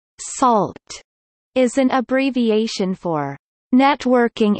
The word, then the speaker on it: NaCl: sodium chloride pronounced salt is an abbreviation for